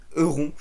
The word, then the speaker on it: Euron: C'est Euron, enfin en français je vais le prononcer comme ça, Euron Greyjoy, le frère de Balon Greyjoy, le Lord.